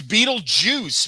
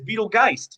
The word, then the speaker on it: Beetlejuice: No, it's not. It's Beetlejuice, man. No, it's Beetlejuice, but at one point they pronounce it as Beetlegeist. Because she's trying to figure it out. That doesn't mean that's a correct pronunciation. I heard Sarah laughing. So she's on my side. It's like Poltergeist. It's a joke on Poltergeist.